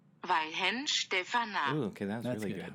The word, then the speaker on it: Weihenstephaner: So, Brun, can you please tell us how to pronounce this beer properly? I feel like we're being terrible Germans. Weihenstephaner. Weihenstephaner.